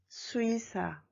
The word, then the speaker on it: 수의사: And the second one is in the middle of the word. I mean, the case of excepting for the first syllable. So you should pronounce as 이. 의사, 수의사.